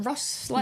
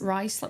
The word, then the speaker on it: Ruislip: how do you say it? Is it Ruslip? Ruislip. Or Ruislip? Ruislip, Cass. It's Ruislip. Why is it spelled Ruislip when it's Russ? Is it Russ? Ruislip.